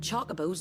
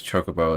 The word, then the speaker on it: Chocobo: I guess Chocobo is more of a... It's closer to the Japanese pronunciation of it.